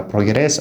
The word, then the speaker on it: progress: Which syllable are you putting the stress? Is it the first or the second? So noun waa la dhihi karaa, verb waa la dhihi karaa. Progress ama progress labadaba.